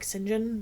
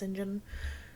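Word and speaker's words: St John: it might be like Sinjin which is spelled Saint John but it's pronounced Sinjin and maybe Guildford is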